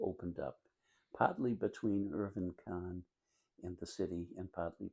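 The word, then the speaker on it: Kahn: I sometimes mispronounce it, Irving, and it's not. It's Bergen Khan K Ahn well-known developer had bought the pen skeos and I think it was about 1962.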